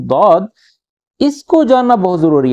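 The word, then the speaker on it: ض: Just ज़ाद, क्योंकि हमने अपने देशों में, अपने मुल्कों में हमने इसको ज़ाद पढ़ा है, ठीक है, जेड के साथ ज़ाद। लेकिन अरेबिक में थोड़ी सी इसकी प्रोनाउंसिएशन जो है वो तब्दील हो जाती है, हम लोग बोलते हैं दाद, ठीक है।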